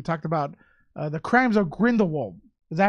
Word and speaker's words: Grindelwald: bit, and we talked about the Crimes of Grindelwald. Is that how you pronounce it?